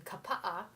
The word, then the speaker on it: Kapa'a: I grew up in the Twin Cities of Minnesota, and then lived in Kapa'a, is how you pronounce it, Kapa'a, Thank you.